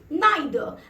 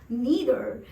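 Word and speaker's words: neither: बोल दीजिए, यानी कि नाइदर। आप चाहे तो अमेरिकन प्रोनाउंसिएशन में बोल सकते हैं नीदर, एंड आप करेक्ट ही रहेंगे।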